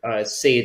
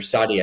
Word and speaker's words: sade: Sade, S-A-D-E, or Sadi, I think it's pronounced, plays above Petrels for